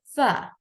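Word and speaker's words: ف: and do remember that when the F sound is going to be pronounced and in that very part the tip of our first two read is going to be joining with the inner veter part pronounce it f F so would you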